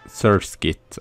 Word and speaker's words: Surskit: that's even rarer is sewer on horses surskit I should say pronounciation and you can